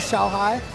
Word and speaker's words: Xiaohai: So the last player, of course, is Xiaohai.